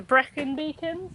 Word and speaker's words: Brecon Beacons: here we are currently in wales in the brecon beacons is that how you say it yeah black mountains broken beacons black mountains and today we are going to